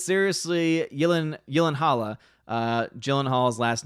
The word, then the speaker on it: Gyllenhaal: Clair says, it's seriously Gyllenhaal. Gyllenhaal's last name pronounced.